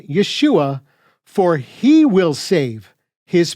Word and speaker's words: Yeshua: result is the same the messiah's name is pronounced Yeshua which means not yah is salvation but he is salvation as evidenced Again by Matthew 1 21 you will call his name Yeshua for he will save his people from their